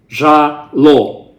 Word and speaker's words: Zhalo: And maybe the pronunciation for non-Russian speaking people can be a little bit difficult, but I don't really think so. Zhala, not a big deal. So Zhalo.